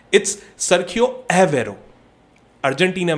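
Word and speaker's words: Agüero: देता हूं, इट्स सर्खियो एवेरो। Argentina में अगर आप अर्जेंटीनियन स्पैनिश देखोगे, इट्स सर्खियो एवेरो, बट हम अग्वेरो को गलत नहीं बोलते, because this is हाउ we talk about that, ठीक है?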